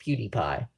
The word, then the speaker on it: PewDiePie: wouldn't assume that it's pronounced PewDiePie because like who thinks PE w means and it sounds like pew like wait wait pew yeah yeah exactly